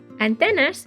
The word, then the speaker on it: antenas: their antenas antenna antenna antenas which is a cognate and sounds like the word in English antenna excellente now the last